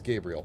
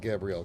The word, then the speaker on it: Gabriel: I'm assuming it's Gabriel, not Gabrielle, because that would be spelled with two L's. Gabriel. Like the Archangel.